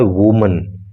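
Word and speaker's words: women: होता है वूमन लेकिन जब एक से अधिक महिलाओं की बात होती है प्लूरल नंबर में ये नाउन होता है तो स्पेलिंग होती है डब्ल्यू ओ एम इ एन और प्रोनंसिएशन में भी अंतर आ जाता है। प्रोनंसिएशन हो जाता है वीमन।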